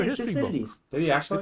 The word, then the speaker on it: Thucydides: So the great thinker is Thucydides.